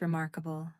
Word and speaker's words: remarkable: Did you notice the stress? Remarkable. The strong beat is on the second syllable.